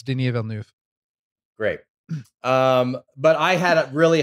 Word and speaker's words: Denis Villeneuve: Yeah, it's Denis Villeneuve.